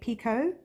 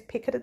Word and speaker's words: Picot: Now yours truly occasionally says picoted stitch. It happens. It's just, you know, that's the way it's spelt, so I tend to say it that way.